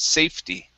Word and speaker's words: safety: Okay, this E is not pronounced. Okay, so it's safety.